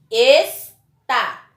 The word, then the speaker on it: está: Observe que nas duas palavras, a última sílaba foi pronunciada com mais intensidade. Portanto, elas são palavras oxítonas, pois a última sílaba é a tônica.